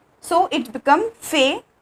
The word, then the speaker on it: fais: T, so it become fais. Pronunciation is same, fais, fais, fais, but there is a difference of spelling, letter, S and T, okay.